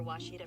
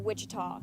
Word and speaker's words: Ouachita: Is it pronounced Ouachita? Searching for Ouachita Baptist University. Back in Texas, everybody pronounces it Wichita, but really, it's Ouachita.